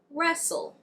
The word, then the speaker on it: wrestle: If you see a word that ends in stle, it would be right to assume that the T is silent. Let me give you some examples. Whistle, wrestle, apostle, castle, thistle, hustle.